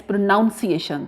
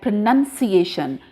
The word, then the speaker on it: pronunciation: Most of the students pronounce this word as pronunciation. That is wrong. If you look at this word, pronunciation. If I write over here, pronounced, Now this word will be spoken like pronounce. This will be spoken like pronunciation. Pronounced due to OU.